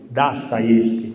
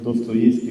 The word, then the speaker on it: Dostoevskij: filosofo e letterato russo, bisogna pronunciarlo per un fatto di garbo come lo pronunciano loro, che è Dostoevskij, non Dostoevskij come diciamo noi.